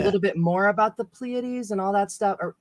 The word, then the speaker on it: Pleiades: to learn a little bit more about the pleiades and all that stuff or did i say it right even pleiades yeah but yes yes only because i looked